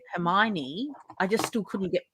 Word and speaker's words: Hermione: gotta get it right that's like me reading harry potter in my head calling it hermione for so long homeowner yep exactly that's pretty much exactly how i used to pronounce it in my head too even though i knew very early on i knew very early on that it was her hermione i just still couldn't